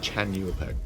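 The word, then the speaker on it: Xlanhuapec: Also, it is pronounced Chanuapek, by the way. XL is like a CH sound. It's Chanuapek. Also, the H is presumably ignored completely, or you consider that to be a Y, maybe? But it's Chanuapek, is how it's pronounced.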